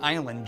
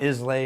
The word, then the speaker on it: Islay: made in Scotland Iowa means it's on an island just off the lower west coast of Scotland just alphaf Campbelltown it's a spelled is la whaai and pronounced isla okay if not Islay or easily or Isley it's Iowa it was